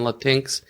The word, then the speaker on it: Latinx: the fourth book is I'm sure some people would pronounce it Latin X instead of latinx I actually love that